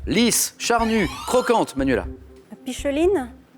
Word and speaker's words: picholine: La picheline? Alors, normalement, le CH se prononce K, mais je vais accepter la réponse, bien sûr. Picoline, et qui s'écrit picholine.